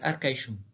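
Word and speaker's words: Arcachon: Par exemple, dans le nom d'Arcachum, qui peut aussi se prononcer Arcaishum.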